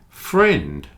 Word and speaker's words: friend: just one syllable aunt friend also has one syllable friend ignore the I in this one pretend